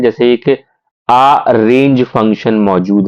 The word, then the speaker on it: arange: Available हैं, जैसे एक आ रेंज फंक्शन मौजूद है. तो आप इसे गलत तरीके से ना पढ़ें कि अरेंज function. No, इट्स नॉट अरेंज, इट्स आ रेंज. आप स्पेलिंग पढ़ लीजिए, इट्स ARANGE.